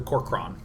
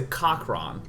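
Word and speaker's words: Kor'kron: help but want to call the corron which I actually realize is the correct pronunciation why did I why did I think I I used to think it was a cochron but um then I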